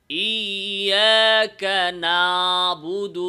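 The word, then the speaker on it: إياك نعبد: নিয়ে আইনটা আদায় করা ফলে আইনটা একটা মোটা আলিফের মত শোনা যায় যেমন অনেকে এভাবে বলে ইয়াকা নাবুদু বিশেষ করে যখন কার্বী সাবরা দুই তিন আয়াত এক লগে পইড়া এই জায়গায় ওয়াকফ করে ইয়াকা নাবুদ তখন এভাবে পড়ে ফেলে ইয়াকা নাবুদ বলেন না এটা হলো ভুল উচ্চারণ নাবুদ না তাহলে কি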